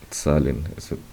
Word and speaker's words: Zahlen: Esa T, esa Z siempre suena como una T, Z, como cuando decimos pizza. Ese pizza, ese tz, es el mismo de Zahlen. Siempre que damos una Z en el alemán, se pronuncia así, como la doble Z de pizza.